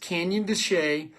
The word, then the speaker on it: Canyon de Chelly: Look it up, Canyon de Chelly. It's spelled Shelley. It looks like Shelley, but it's pronounced Canyon de Chelly.